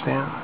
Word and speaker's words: Staunton: Don't ask me why they pronounce it Stanton. Spelled S-T-A-U-N-T-O-N. It really should be Staunton.